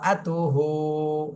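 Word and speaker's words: امرأته: তিনবার জোরে জোরে বলি দুই একজন কিন্তু আতুহু বলতেছেন হু না আব তুহ তাহা পেশ তুহ এভাবে বলতে হবে ওয়ামর ওয়াও যে মিমকে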